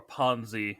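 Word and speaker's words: Panzy: do like pansy yeah or Ponzi as they pronounce it I'm gonna keep saying pansy I'm American deal with it America yeah but H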